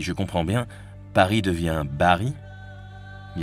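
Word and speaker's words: باريس: que soit leur place le S de Paris s'entend donc pas de confusion possible entre ces deux villes Paris se dira donc Beris en revanche il y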